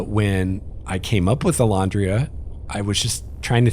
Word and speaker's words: Elandria: the elodran uh when i came up with alondria i was just trying to think of something